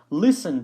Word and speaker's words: listen: Listen to. You know this one. Just make sure that you don't pronounce the T and that we always use the to in there.